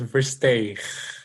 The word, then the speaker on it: Versteegh: If you would, please give me the correct pronunciation of your name and tell me a little bit about yourself. My surname is Versteegh.